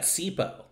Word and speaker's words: CPOE: football analytics twitter uh i pronounced that sipo completion percentage over expected and i started saying